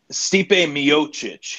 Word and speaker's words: Stipe Miocic: How do you pronounce this guy's name? Ryan Stipe Miocic. Stipe Miocic.